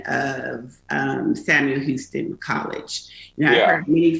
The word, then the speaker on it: Houston: the same way where houston tillotson is is houston like the city that's you see you're